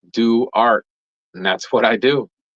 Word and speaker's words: Duarte: in bro Bren down phonetically it's do art and that's what I